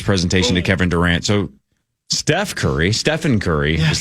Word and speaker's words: Stephen: In Nike's presentation, they famously called him Stefan and had a leftover slide from a Kevin Durant presentation. So Nike botched it. They didn't even say his name right, and they clearly had